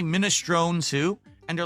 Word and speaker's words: minestrone: That's the Italian pronunciation.